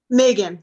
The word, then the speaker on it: Meaghan: Megan, like the month of May.